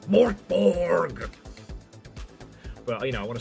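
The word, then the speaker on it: Mörk Borg: Hamsonator is pronounced Mortborg, but you know, I want to save my voice.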